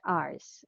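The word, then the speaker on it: hours: is ours okay um you don't need to pronounce or read the letter h okay it's read ours okay all right ours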